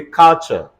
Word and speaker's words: culture: all right and um c-u-l-t-u-r-a-t thunderstorm everybody say culture and so on and so forth I'm sure